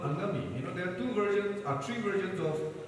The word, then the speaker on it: Angami: So they, change Angamai to Angami. Ngami, because they could not pronounce Ngami, they put A and call them Angami.